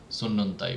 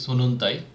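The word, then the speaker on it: sunnuntai: সানডেটা আবার same, S দিয়ে শুরু হচ্ছে, সানডের মতো সুন্নন্তাই বলে। তো ফিনিশ একটা ফোনেটিক ল্যাঙ্গুয়েজ, এখানে এভরি লেটারের উচ্চারণ হয়। এটাকে যদি আমি বলি সুনুনতাই, এটা কিন্তু হবে না, আমাকে দুইটা এনে উচ্চারণ করতে হবে, সেজন্য এটা বলতে হবে সুন্নন্তাই।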